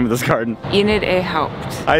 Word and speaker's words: Enid A. Haupt: How do you pronounce the name of this garden? Enid A. Haupt.